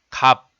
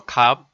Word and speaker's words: 값: For example, in the syllable 갑, the sound is same as 갑.